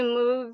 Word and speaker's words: Mobius: do lot or you um just can't really move your eyes stuff like that which I don't